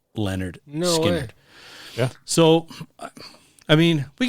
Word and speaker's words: Lynyrd Skynyrd: all from their first album which is called pronounced Leonard skard yeah so I mean we can talk about